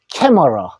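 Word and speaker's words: camera: 그냥 라고 읽고 두 번 있더라도 한 번만 합니다. 보스. 카메라. 영어로는 캐머러.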